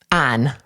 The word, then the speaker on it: Ian: He himself pronounced it this way, okay? So we called him Ein.